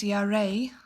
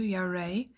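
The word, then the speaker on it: ירא: That word afraid means yareh. That's how you say it in Hebrew, yareh.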